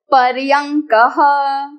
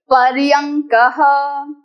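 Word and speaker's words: पर्यङ्कः: बेड बेड is called पर्यंक पर्यंक don't let अंग एंड ड confuse you there is a small dot after the shape of ड so that is नॉट ड इट इज अंग।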